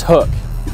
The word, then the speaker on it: HUK: first of all everybody is pronouncing it wrong its hook h UK hook it makes sense because